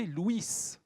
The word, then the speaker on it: Louis: louis 7 le jeune louis 7 avant louis se prononcer luis luis vous exagérez sur